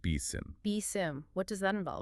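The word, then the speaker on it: BSIMM: Yes, another powerful framework mentioned is the Building Security in Maturity model, or BSIM, pronounced BSIM.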